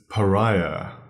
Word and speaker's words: pariah: spell pariah and obviously we don't sound the H at the end of that word